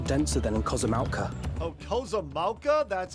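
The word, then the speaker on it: Kozama'uka: Oh, Kozamauka? That's how you pronounce it?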